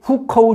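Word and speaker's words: 户口: 그게 바로 후커우 제도라고 하는 건데, 우리 발음으로 읽으면 호구예요. 우리 호적 제도 이렇게 보시면 되는 겁니다. 호적 등본, 호적 초본, 옛날 그런 게 있었잖아요. 지금은 가족관계부 뭐 이렇게 되어 있지만, 그 호적, 그게 호구, 중국 발음으로는 후커우라고 해요.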